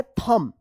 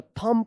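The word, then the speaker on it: thumb: बोलते हैं ना थम्स अप जो क्या है थंब यहां पे बी जो है ना साइलेंट इसको थंब मत पढ़िएगा थंब पढ़ा पढ़ा जाता है।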